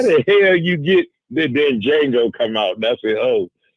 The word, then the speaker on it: Django: Then Django come out. That's it. Oh, I'm gonna call it like the white man said. The Django. Bam. The D is silent, but hillbilly.